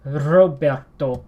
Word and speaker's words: Roberto: getting trill the beginning it's Roberto that the are gets trilled which is that little motor resound make me all that it's just basically the argit's would repeatedly pronounced in your mouth a lot in the span of like a millisecond it's one of the easiest way to describe it whereas the English pronunciation Robert Robert where's drew a rope don't grow up after it gets its trilled it's it's it's probably